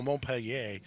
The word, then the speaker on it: Montpelier: Well, Montpellier is how I would say it with my French background training, but Montpelier is probably how they say it in Ohio.